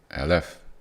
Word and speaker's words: aleph: It has no sound. It's just the letter. It's a silent letter. It carries a lot of significance. Now of course when we name it we have to put sound to it otherwise how do we say the letter right? So that's why it has a name alf. However it doesn't have a sound.